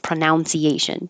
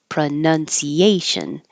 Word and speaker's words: pronunciation: the noun with pronounce the verb and making it pronunciation so they're separate the noun PR nun pronunciation and the verb is pronounce with an ow